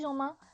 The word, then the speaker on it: Jomain: Bah oui, parce que tu croyais qu'elle était anglaise, du coup tu as voulu prononcer à l'anglaise. Donc bah, Sophie Jomain.